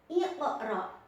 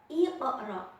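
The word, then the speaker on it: اقرأ: Nah, contohnya di sini ibu beri contoh yaitu iqra. Iqra. Nah, bacanya harus dipantulkan karena huruf qaf berharokat sukun asli. Jadi iqra harus dipantulkan.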